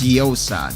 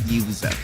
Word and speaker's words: Yosa: a support Tu it's pronounced as yosa not yaa I almost forgot that's